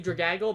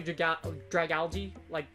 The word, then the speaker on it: Dragalge: I say Dragaggle, but it's actually Dragalge, algae from the sea, like Dragalge.